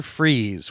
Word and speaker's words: Fries: oh yeah Dr Victor freeze which once again very funny his name is spelled more like fries I think but it's pronounced freeze once again one of